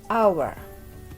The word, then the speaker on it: our: hour Hai milik kita tulisannya our Tapi bacanya hour airnya hampir tidak bunyi ya hour Hai milik